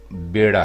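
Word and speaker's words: بیڑا: कहते हैं कि ये बेड़ा है। और इसी हिज्जे के साथ, लेकिन ज़ेर के साथ एक लफ्ज़ और हम लिखते हैं, वो है बीड़ा।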